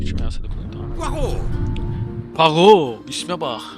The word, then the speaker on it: Poirot: Poirot. İsme bak. Poirot diye okunuyor.